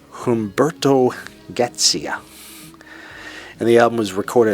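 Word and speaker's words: Humberto Gatica: time hbert to gcia I for years said Humberto Garcia but it's pronounced Humberto gcia and the album was recorded at several Studios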